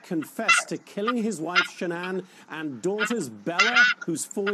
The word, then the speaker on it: Shannan: lives tweeted quote Chris Watts the husband of Shannon that's how you pronounce it has been placed into custody and